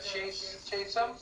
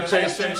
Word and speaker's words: Chastain: Jessica Chatham. Oh yeah. Jessica Chastain. I get your name wrong every time.